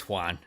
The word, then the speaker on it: Juan: My name is Juan. It rhymes with number 1.